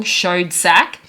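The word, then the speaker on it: Schoedsack: marin c cooper and ernest b pardon the pronunciation if i get it wrong showed sack and the scrape screenplay was james uh ashmore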